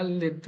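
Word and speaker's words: Lydd: In Arabic, we should pronounce it. Yeah, Lid. I think in Hebrew it's Lod.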